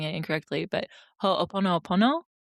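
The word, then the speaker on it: ho'oponopono: If anyone who's listening, if you're familiar with a Hawaiian practice called I might be pronouncing it incorrectly, but ho pono pono. Yeah, that's right. Ho ponop pono.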